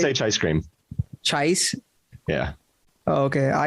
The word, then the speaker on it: Chaicecream: The CHAICECREAM, bro. How do you properly pronounce it? I say CHAICECREAM.